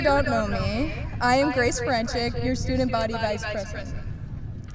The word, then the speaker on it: Ferenchik: Now please join me in welcoming Grace Ferenchik, Student Body Vice President, for our closing remarks.